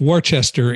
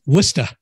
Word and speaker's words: Worcester: We know it's not pronounced Worcester in Massachusetts. It's Worcester.